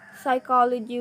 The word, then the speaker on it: psychology: with the silent g psychology with the silent p and right with the